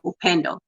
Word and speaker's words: Upendo: The best way to say it is if like Upendo. I say it Upendo. Upendo, it's a Swahili word, or you can say Upendo. A lot of people say Upendo.